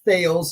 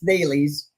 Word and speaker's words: Thales: They all think it's Thales, like Mike Tyson talking about sales. It's not. It's Thales.